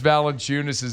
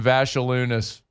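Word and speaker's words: Valančiūnas: Oh, that was when Mad Dog butchered Yonas Valenunis's name and he called him Vashalunis.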